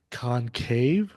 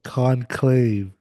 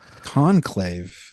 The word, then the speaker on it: Conclave: It's called Concave. Con, con I can't say even Whitney's shaking her head right now. How do you say it? Oh, Conclave. Conclave.